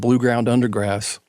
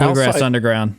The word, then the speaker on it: Blue Ground Undergrass: was with this band blue ground undergrass we were in austin tech we were all grass underground you said it wrong blue blue say it again so background ground undergrass